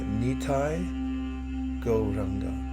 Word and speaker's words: Nitai Gauranga: I'll repeat the mantra, Nitai Gauranga. 5 syllables.